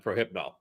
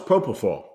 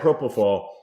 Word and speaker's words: propofol: understand now why Michael Jackson got hooked on Prohypnol, because that's what they used to put me out for my my colonoscopy, and it just I had that. Yeah. I had no, it was propofol.